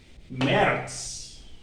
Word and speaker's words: März: So say it after me, Januar, Februar, März, like here, März, März, März. You remember this A with umlaut is pronounced E. So here will be E, like this.